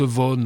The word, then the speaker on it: Vaughan: Ça se prononce von Ouais ouais tout à fait mais moi je dis Vogan comme tous les Français qui se respectent.